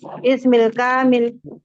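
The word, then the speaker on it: اسمي الكامل: Tapi ketika ada bertemu dua sukun, kita hilangkan sukun yang pertama. Jadinya gimana bacanya? Ismil kamil.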